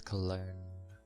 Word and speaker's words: cologne: I always found the spelling of cologne weird. Like, what's with the G then if it's cologne?